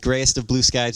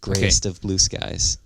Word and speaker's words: GryestofBluSkies: Anyway, but keep in mind that Grayest of Blue Skies is spelled Gryest, Grayest of Blue, no E, Skies, all one word. So it's GRYEST. GRYESTOFBLUSKIES. Gotcha. Grayest of Blue Skies.